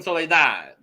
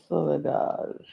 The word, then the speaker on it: Soledade: So next up, Tristan Soledade, as I learned how to say her name from Greg, because Greg kept like accent Soledade. Tristan Soledade. Soledade. I wasn't fully sold on this outfit, this look.